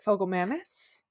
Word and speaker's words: Fogelmanis: oh I watched a video on how to pronounce it fogam Manis yes yeah Corey fogam Manis and Danielle fishal as well and she's still